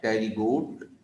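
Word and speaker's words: Pterygota: ए टेरिगोट, ठीक है। ए टेरिगोट, ए माने तो नहीं, पी, पी साइलेंट है, और इसको हम टेरिगोट पढ़ते हैं, टेरिगोटा या टेरिगोट्स।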